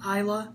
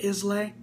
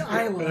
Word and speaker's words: Islay: But yeah, and it, oh, by the way, guys, it's pronounced Islay, not Islay. There's so many people right. on YouTube here pronouncing the stuff Islay. Yeah. It's Islay.